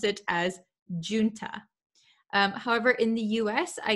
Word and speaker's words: junta: word so the j the j written here does not sound like an english j it sounds like an h so in america we would say junta junta so that's how i'll